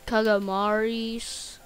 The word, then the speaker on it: calamari: Calamaris? Yeah, we pronounce it different. It's supposed to be calamari, but we call it calamaris.